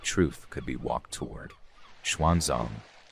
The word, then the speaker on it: Xuanzang: Xuanzang, pronounced Suansang in older texts, was not yet the legendary traveler he would become.